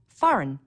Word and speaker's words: foreign: Foreign, a G that you don't hear.